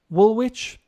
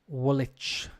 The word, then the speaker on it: Woolwich: thames it's thames over here in london the pronunciation woolwich no wolich greenwich greenwich so uh i'm just looking at